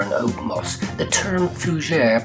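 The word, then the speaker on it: Fougère: The term Fougere, pronounced Fougere, is French for fern.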